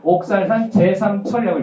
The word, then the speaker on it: 옥살산 제3철: 옥살산철 넣어보자 이렇게 옥살산철인데 여기는 뭐라 써있냐면 쓰리라고 써있잖아요. 읽을 때는 옥살산 제3철이라고 읽어요.